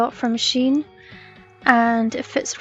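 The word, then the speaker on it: Shein: bunch of stuff from Sheen I looked up Googled it and that's how you pronounce it I know people will see Shane and she no Shane but Google says it's Sheen so I have to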